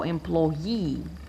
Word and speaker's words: employee: I put my stress on the syllable with the suffix, which is this. So employee, the stress is on ye.